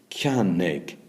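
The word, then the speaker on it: ceannaigh: Like, for instance, Ciannig. Two syllables, ciannig, I buy, okay?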